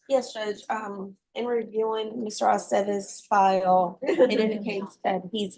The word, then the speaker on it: Aceves: Aceves.